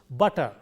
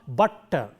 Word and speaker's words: butter: So, it is pronounced butter, it is not butter. When you say butter, the T is prolonged. We should not do that. It will be pronounced as though there is only single T.